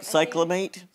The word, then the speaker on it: cyclamate: we see something band um I can't even pronounce that Cate cyclamate camate thank you um because it's a non